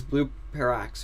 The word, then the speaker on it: Blue Parax: Because he got Blue Paradox's name wrong. Did I? It's Blue Parax, right? Oh, yeah, yeah.